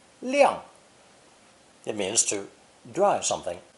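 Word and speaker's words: 晾: the sun radical and pronounced fourth tone liang liang it means to drive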